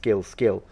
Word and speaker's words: skill: So if you have this, and in English you're pronouncing the word skill, the word skill, the K, is not aspirated. So you go skill.